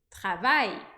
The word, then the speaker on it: travaille: for uma sílaba com A e L, essa letra L, aí a gente vai falar ai, como por exemplo, je travaille, eu trabalho, je travaille.